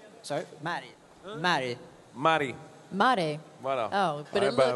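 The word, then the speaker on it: märg: Mare. Voilà. Oh, but it looks, voilà. It's spelled M-A-R-G. Mare. It's the bone marrow.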